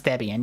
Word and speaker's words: Debian: That is how you pronounce Debian.